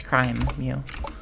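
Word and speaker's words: crimew: Crime, like criminal activity, but crime. I mean, okay, Crimeo, but it's not. It's crime, Mew.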